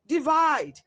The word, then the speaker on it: divide: be current option C divided option D number options a B and D how they're worth stress on the first syllable while option C divide is stressed on the second syllable there for option C